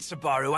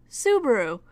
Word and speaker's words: Subaru: what the hell dammit Sbarro I know that's you soo baru no spell with me again please s you be a are you Subaru like the car brand has Sentai Filmworks never